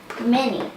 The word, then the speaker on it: many: The A in this is saying e mini. Many.